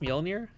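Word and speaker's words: Mjölnir: I believe it's pronounced Mjolnir.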